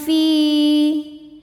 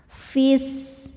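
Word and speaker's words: في: Malakil fi. Saat berhenti di fi hukumnya adalah mad tabi'i. Sebab ada ya sukun sebelumnya kasroh. Cara bacanya panjang 2 harokat.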